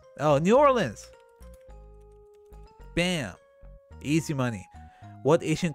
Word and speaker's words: New Orleans: What city is often pronounced Nolens? Oh, New Orleans.